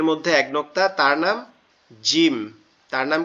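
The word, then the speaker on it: جيم: জিম। জিম। জিম। এই জিমটা জিম। কিভাবে উচ্চারণ হবে দেখেন, আমাদের দুই দাঁতের পাটি একসাথে লেগে থাকবে, লেগে একটু শক্ত আওয়াজে জিম, জিম, জিম।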